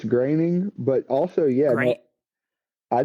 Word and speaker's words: Groening: I think it's Graining, but also, yeah, no,